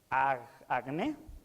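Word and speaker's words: ἁγνή: es que es pura esta palabra en griego no se le voy a enseñar en griego pero bueno se pronuncia al acné pura es muy parecida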